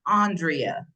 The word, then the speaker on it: Andrea: And joining me today is Andrea. How are you? I am doing wonderful, but it's actually pronounced Andrea.